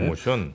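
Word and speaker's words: Rho Motion: 이거 어떻게 읽는지는 모르겠는데 로모션이라고 읽어야 되나요? 료모션이라고 읽어야 되나요? 로모션. 예, 네.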